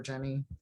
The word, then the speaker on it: Zhen: did you you pronounced because it's like Jen or Jenny yeah you did and you said Jen um but yeah so